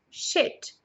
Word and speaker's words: shit: Sheet, shit. Então, se você reparar bem, sheet, a primeira palavra, tem uma prolongação na pronúncia do i. Então, sheet. Já a outra não. Shit.